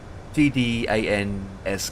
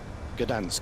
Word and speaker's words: Gdańsk: Uh G uh How do you pronounce It's G N G D A N SK K I think it is. Gdansk.